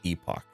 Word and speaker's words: Epoch: guys back on last epoch vast ebook what is it I'm sorry epic we've been saying it like a bunch of dirty heathens the Epic they call it Epoch I don't care that